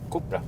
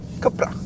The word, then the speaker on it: Cupra: Du hade det rätta spanska uttalet. Cupra. Cupra.